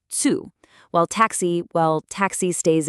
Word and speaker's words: Zoo: Z actually makes a tooth sound. So "Zoo" becomes "Zu".